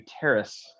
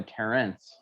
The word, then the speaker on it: Terrace: yeah yeah and and key pronunciation to terrace terrorists it is a terrorist not a terrence taking a walk on the terrace yes yes let's go